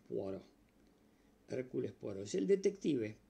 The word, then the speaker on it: Poirot: se llama Hércules poaro se escribe poirot en francés poaro Hércules poo es el